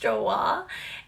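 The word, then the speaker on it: Joie: this brand and that is i used to pronounce it joey but i guess it's pronounced joa and um it was this lace top that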